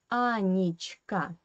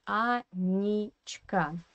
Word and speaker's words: Анечка: Pay attention to this Е in the middle. We write Е, but we pronounce it as E because it is in unstressed weak position. Анечка we write, and we say Анечка, yeah?